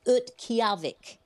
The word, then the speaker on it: Utqiagvik: The pronunciation of the name of the community now is Utqiagvik.